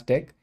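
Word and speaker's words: deque: So it stands for doubly ended queue and it's pronounced as deck.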